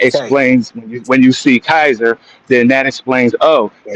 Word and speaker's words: Caesar: There is no soft C in Latin. It's all K. So when we say Caesar, that's not what it actually was. When they were saying it, they would have said Kaiser.